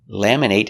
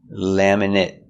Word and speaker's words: laminate: laminate your driver's license laminate is a verb with a long a sound laminate but what if it's not a verb laminate we make these short it it sound laminate laminate is not a